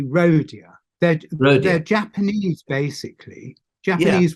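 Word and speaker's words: Rohdea: Manor rodia rodia and how do you say it rhodia well I say rodia dead they're Japanese basically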